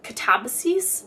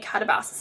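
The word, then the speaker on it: Katabasis: I also just finished Catabases. I heard RF Kong say it like that. I was calling it catabassis in my head for a really long time, but that word means the hero's journey to the underworld.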